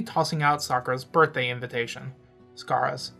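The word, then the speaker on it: Skara: out Sakura's birthday invitation scaras Scara that's how you pronounce it yes this again was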